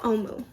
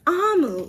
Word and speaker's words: Amu: Thank You, Omu. Sorry, it's Amu. Ooh, I love that. It says, note to the reader, Amu, pronounced Amu, is the Igbo term for queen. So remember, it's pronounced Amu.